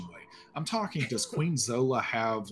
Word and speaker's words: Zola: Zola. You did, yeah. Queen Zola. So is Queen Zola like powerful? And I don't mean in like a political machination way. I'm talking, does Queen Zola have like, you know, real power, like magical power.